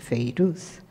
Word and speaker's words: Fairuz: Se escribe Fairuz, pero se dice Feiruz, y que es uno